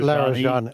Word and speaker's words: Larijani: The Israelis are saying that they have killed the Supreme National Security Council Secretary Ali I can't pronounce Larijani Larijani and the uh a commander another commander